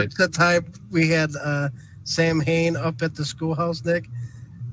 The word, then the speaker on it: Samhain: It's like, no, it's Am I it's missing- Samhain. Yeah, you're mispronouncing it. Sam Hain's like a stripper or something. You know, it's Samhain. Right. Yeah, it's written Sam Hain, but it is produced Samhain.